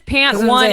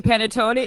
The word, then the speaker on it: panettone: no yes the teacher when she mispronounces yeah she says pant one it's completely panettone and it's like really